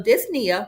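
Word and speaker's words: dyspnea: So, dys means difficulty and then the p is silent. Nia refers to breathing. So, disia refers to shortness of breath.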